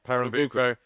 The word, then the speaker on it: Pernambuco: I always struggle to pronounce this. Pernambuco, is it? Yeah, Pernambuco, a place.